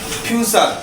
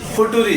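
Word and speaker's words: future: তারপরের শব্দটা হচ্ছে ফিউচার। এটা সবাই আমরা জানি টেন্সের ক্ষেত্রে ব্যবহার ফিউচার এটাকে অনেকে মজা করে বলে ফুটুরি আসলে কিন্তু ফুটুরি কোন শব্দ হয় না তারপরটা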